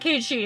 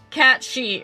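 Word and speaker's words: Cait Sith: Kate she or whatever it's not Kate she it's it's cat she or she or whatever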